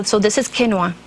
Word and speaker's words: quinoa: lunch or a salad U so this is quinoa it's spelled q i n o a and ESS